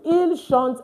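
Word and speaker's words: ils chantent: And please, the ENT is not pronounced. It's il chante, elle chante.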